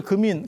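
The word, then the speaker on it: 金: 있어 세 가지 이야기가 하나는 요금 인 부처님을 금인 금색 거 아시죠 어 그래서 그 민 이걸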